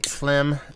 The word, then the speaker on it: Floem: And comments-wise, everybody telling me Phlegm is actually how you pronounce it.